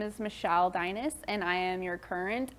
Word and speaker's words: Deines: in my husband says like Dynasty or as my kids say is in dinosaur oh okay that helps